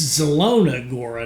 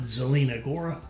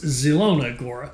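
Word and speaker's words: Zielona Góra: was trying to say, it's Zelona Gora, not Zelina Gora. At least, and that may not even be right either, but it doesn't matter. On this channel, it's Zelona Gora.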